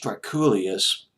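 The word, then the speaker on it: Drakoulias: of his last name his name was George Trek Ghoulia's pronounced us that George Trek Julius was a protege of Rick Rubin of Def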